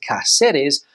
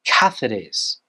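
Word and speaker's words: Cáceres: here I've heard people pronounce this word as cetes but the Spanish pronunciation is cathes cathes cathes you've got the hard se sound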